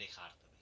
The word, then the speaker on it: Descartes: Belakangnya Cartesius. Bacanya Descartes.